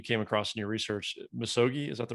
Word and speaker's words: Misogi: Misogi, is that the right way to say it?